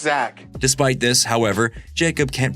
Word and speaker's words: Zach: After talking with fellow teacher Gregory Eddie, Jacob admits he wants to break up with his longtime boyfriend Black. It's actually pronounced Zack.